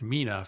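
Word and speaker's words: MENA: Mina pronounced Mina for Middle East, North Africa.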